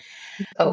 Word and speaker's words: Oke: to now, by Janet Oke, or Oki, I'm not sure how you pronounce that, O-K-E. Oak.